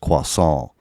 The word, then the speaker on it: croissant: can i get a croissant and she's like it's pronounced quasal and then like she